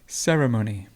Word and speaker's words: ceremony: central central and ceremony and this the stress is here ceremony certain certain and the